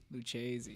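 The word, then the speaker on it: Lucchese: that boot maker's name lucies uh luchazi luchezi yes they are they're like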